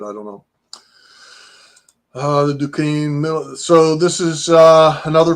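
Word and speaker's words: Duquesne: I always put in there Dukane because you wouldn't get that if you weren't from Pittsburgh. Um but that's how you pronounce it.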